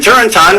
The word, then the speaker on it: Turrentine: Democrat Dan Turrentine, rhymes with wine, agrees.